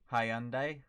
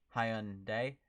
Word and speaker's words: Hyundai: day hey you brits in australian says uh hyundai while americans say hyundai but koreans say it's high-end day let's just stop using